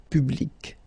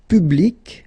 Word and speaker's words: public: see this example public so you can see that you get this final say and then you pronounce it public okay so you will have to change it so you take it away and then you put this Q instead and well fanatically it is exactly the same thing so public at the